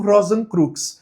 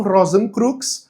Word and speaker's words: Rosenkreuz: Não existiu, supostamente, um Christian Rosenkreuz na vida real, tá? Ou Rosenkreuz, né? Depende de como você vai pronunciar isso.